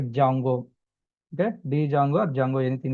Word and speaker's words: Django: Django here d is a silent letter that's why we are calling like a jungo.